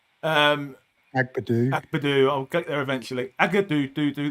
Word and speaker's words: Agbadou: Morello, Abdagu. Did I actually say it right? Agbadou.